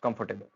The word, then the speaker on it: comfortable: Next है हमारे पास Wednesday, फिर है रिसीट, देन है आइलैंड, फिर है हमारे पास कंफर्टेबल, इट्स कंफर्टेबल नॉट कंफर्टेबल।